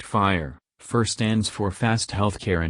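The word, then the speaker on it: FHIR: does fur stand for fur is the latest standard to be developed under the hl7 organization pronounced fire first stands for fast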